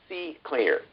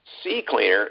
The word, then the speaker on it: CCleaner: name again okay it's ccleaner is two c's c l e a and e r it's like c and then cleaner okay it's it stands